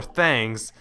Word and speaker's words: Thangs: tests will lead them to collecting the four thangs yes that's pronounced and once all four of them are